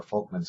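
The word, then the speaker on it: Volkmann: are called perforating or folkmans i know it says there's a v there but it's pronounced with f folkman's canals these canals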